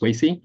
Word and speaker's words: Wei Si: My name is Wei Si, right? And if we haven't met before, you pronounce it as a way to see, right?